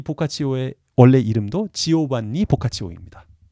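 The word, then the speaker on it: Giovanni: 데카메론이라는 이야기를 썼던 사람 보카치오인데, 이 보카치오의 원래 이름도 지오반니 보카치오입니다. 이탈리아에서는 요한이 지오반니로 발음된다라는 걸 알겠습니다. 그리고 지오반니를 여성형으로 할 땐 지오반나 이렇게 발음한다는 것도 알아두시면 좋겠습니다.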